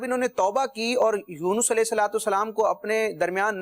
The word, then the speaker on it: یونس: اب یہ جیسے ان کا نام ہے یونس، قرآن مجید میں بھی جو ذکر کیا گیا، بعض لوگ اس کو یونس پڑھتے ہیں، یونس درست تلفظ ہے.